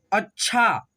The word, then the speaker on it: अच्छा: अग्नि, देखो अ है, आधा च है और छ में आ की मात्रा है, यानी कि छ में जुटा हुआ है च, तो च को हम लोग छ के साथ मिला करके पढ़ेंगे, अच्छा।